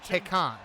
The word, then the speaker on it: Tekken: I'm sorry, Tekken 8. I learned today that is actually how it's supposed to be pronounced.